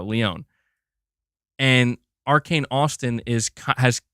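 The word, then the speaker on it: Lyon: Or Leon, is that how you say it? Sorry, I keep saying Lion. I know, Leon. There we go, Leon.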